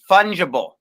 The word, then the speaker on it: fungible: That's pronounced fungible.